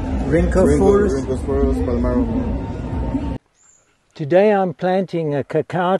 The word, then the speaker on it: Rhynchophorus palmarum: Rhynchophorus palmarum.